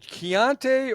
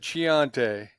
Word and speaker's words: Keante: know how is it keante or is it Chante keante you got it right the first time all right I didn't